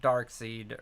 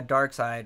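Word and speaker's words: Darkseid: anti- monitor and uh Dark Seed or Dark Side. I said it wrong. I'm going to get in trouble. Uh Dark Side um you know are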